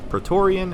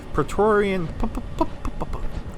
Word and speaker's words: Praetorian: Praetorian. I said it right the first time. Praetorian. It's like a tongue twister for some reason. It's a P and then a T so directly after. Praetorian.